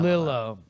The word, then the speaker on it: Lilo: Lilo. That's got to be Lilo. Yeah. Yeah, because it looks like Brillo.